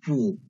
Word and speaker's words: 不: So if bu is followed by a first tone, second tone, and of a third tone syllable, there's no change in tones. But if bu is followed by another fourth tone syllable, so its tone change into second tone, right?